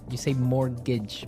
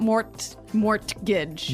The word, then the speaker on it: mortgage: It has a T in it, but you don't pronounce it. You say mortgage. Mortgage. So, not mort mortgage.